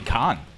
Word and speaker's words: Kane: Billy Khan. Oh. Ignore the YouTube thing. I'm trying to get it out of there, but it's just not working. Kane from America, pronounced Khan. Mm-hmm. Like Genghis Khan.